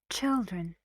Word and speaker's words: children: very relaxed and short say it fast children how many syllables two and the stresses on the first children terrific terrific what does